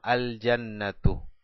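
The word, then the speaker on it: الجنة: Jannatun, abajo, más el alef el artículo, decimos al-jannatu. Pronunciamos el alef y el lam y dejamos una sola dhamma al final.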